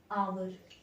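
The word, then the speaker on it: hour: क्योंकि एच जब मैं इस पूरे वर्ड को प्रोनाउंस करूंगी तो ये क्या आएगा? आवर, आवर।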